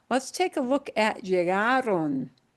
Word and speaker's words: llegaron: Now, let's take a look at llegaron. Last letter is an N. We again punch the second to last syllable. Oh, that's what I expect. If the pronunciation follows that rule, yes, ends in an